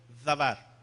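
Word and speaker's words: דבר: Di conmigo, davar. La palabra palabra en el hebreo es davar.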